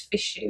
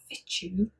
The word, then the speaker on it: fichu: i can find it i think it's fishy it's f i c hu i'm sure i'm assuming it's not fit you and it's like a soft c so here we are